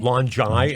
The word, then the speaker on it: LONGi: it's it's called longi and illuminate it's longi longi is how you pronounce it yes um in patasca a stealth